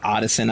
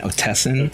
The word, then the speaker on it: Otteson: So instead of Otteson, I was saying Otesson.